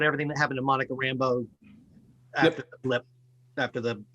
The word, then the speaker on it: Rambeau: And it cracks me up how it's a very Cajun, sort of French Cajun name, Rambeau, right? Which is the way I always pronounced it, seeing in the comics, but that guy just keeps calling her Rambo.